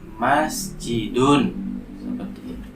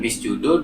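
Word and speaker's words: مسجدٌ: Hai saye Bacanya apa Halo masjidun Oh ya bukan bis judul bukan Miss jadul dari masjidun ya kok bisa begitu karena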